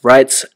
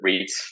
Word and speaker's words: REIT: We had a great conversation today about REITs and the cannabis sector in particular.